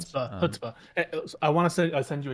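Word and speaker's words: chutzpah: give new meaning to the word Chutzpa. Is that how that's pronounced? Hutzba.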